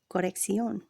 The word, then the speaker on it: corrección: Each C is pronounced separately since each belongs to a different syllable. The first C has a K sound and the second an S sound. For example, correction becomes corrección.